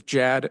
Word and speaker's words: Jad: My name is Jad like Chad with a J if that's helpful.